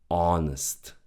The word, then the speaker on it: honest: Honest. The H from the beginning is silent. We don't read it. We just say honest.